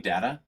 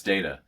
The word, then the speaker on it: Data: and at one time somebody corrects him like it says like, "Don't you mean Data?" And he says, "No, it's Data." And she says, "Isn't it pronounced Data?" He's like, "Well, the difference is one of them is my name and the other is not.